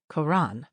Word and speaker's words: Qur'an: K O R A N was an early attempt to mimic the pronunciation of the Arabic term, but that description has been largely replaced with the more accurate Quran Qur apostrophe A N or Q U R A N.